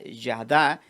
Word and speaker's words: yada: mujer Eva Entonces es la palabra yada es y a d a él se pronuncia así y cuando usted se